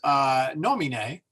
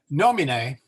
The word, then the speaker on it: nomine: Now, if the second to last syllable is a short vowel, then you go to the third syllable from the end for the stress. So there is nomine, or name. So the E is short, the I is short, the O is long.